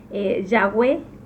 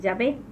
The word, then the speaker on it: Yahweh: Es por eso que lo conocemos, o sea, la pronunciación correcta sería Yahweh y no Yahvé.